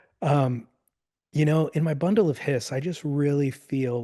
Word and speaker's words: bundle of His: can't beat that but it's pronounced bundle of hiss I'm hearing he said hiss like a snake spelled hi s okay